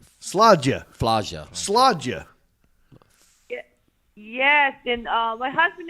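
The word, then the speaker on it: Slađa: So it's go ahead, spell it. It's SLADJA. Sludja.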